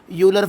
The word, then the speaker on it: Euler: तो आप जो इसे कहना चाहे कह सकते हैं, क्योंकि कई जगह इसे आयलर फंक्शन कहा जाता है और कई जगह इसे ई साइलेंट करके यूलर फंक्शन कहा जाता है।